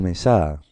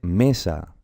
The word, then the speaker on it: mesa: A ver, ¿se dice mesa o mesá? Pues se dice mesa. Por lo tanto, la fuerza, la intensidad, la sílaba tónica, el acento, está en esta sílaba. ¿Y esta cuál es? ¿Es la última? No, es la penúltima sílaba.